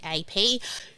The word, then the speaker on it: Keap: I love the celebrating clapping thing, but is this the same Keep that is in the Google? Okay, it's spelled Keap. Keap.